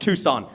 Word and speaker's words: Tucson: And when I make jokes about it, people say it's too soon. And I say it's actually pronounced Tucson.